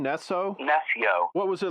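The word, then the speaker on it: Nessjø: Nesso.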